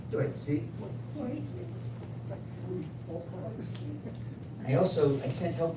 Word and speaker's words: Tuệ Sỹ: Tuệ Sỹ. Tuệ Sỹ.